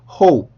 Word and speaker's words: hope: 그거는 문장에 들어갔을 때 일반적으로 그렇게 하고 단어 자체만 발음을 할 때는 hope, hope 이렇게 공기를 조금 터트리는 소리를 내주시는 게 좋습니다.